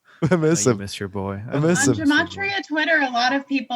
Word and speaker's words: Gematria: I'm very new to Gematria, but now Great. I've spent like hours and hours. It's so bad, but it's also so addictive. You know. Pronounced Gematria.